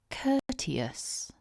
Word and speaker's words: courteous: it's normally written, and I think the main tip that I would give you is to remember this is just a 3-syllable word. It looks like it could be longer, but it's just 3 syllables. Also, watch out for the vowels. Remember we've got the at the beginning, so it's spelt with an OU, but it's an and there's an OU at the end of the word, but that's a schwa. So really take care with those vowels.